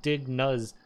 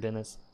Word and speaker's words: Dennis: pronouncing it right, because I would have said Dig Nuz, but I saw in your Discord you have like the pronunciation. And it seems like Dennis.